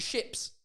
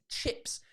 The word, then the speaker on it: chips: fish and ships it's chips the the noise is a it's not a sh it's a chips which is why it's ch and the word ships